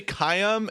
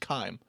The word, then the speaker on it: Kaim: some of them say some of them say kayam and then when kaim says his own name he just says chime oh he's like it's